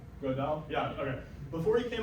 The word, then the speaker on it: Gödel: extremely important and very upsetting mathematical result called Gödel's incompleteness theorems.